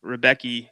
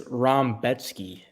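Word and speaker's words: Rębecki: that division it is we were saying it wrong all week but it's rombetsky which is which makes no sense yeah yeah I heard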